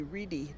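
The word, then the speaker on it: Wrede: A good sort of blog advice column in English is a blog by Patricia C. Reedy, W-R-E-D-E is how that's spelled.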